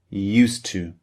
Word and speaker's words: used to: the beginning of two these two sounds merge together in english they almost